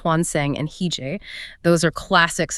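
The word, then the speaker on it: 환생: Look at her covers of Rebirth, that's pronounced Hwanseng and Hije.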